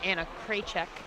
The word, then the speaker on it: Anna Cek: grace uh Killy or Anna cek rhymes with Paycheck that's how you can remember how to say her name uh so it's really